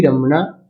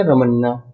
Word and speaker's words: रमना: तो जो मुख्य न्यायाधीश है सर्वोच्च न्यायालय के अभी जो बने हैं, उनका नाम क्या है, एनवी रमना। रमना या रमन्ना एक ही बात होगी।